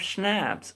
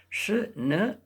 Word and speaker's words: schnapps: We have schnapps, a German drink. Okay, we are like schnapp. We pronounce it as schnapps.